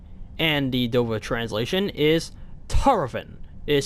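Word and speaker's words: Tahrovin: And the Dover translation is Tarovin. It is spelled T-A-H-R-O-V-I-N.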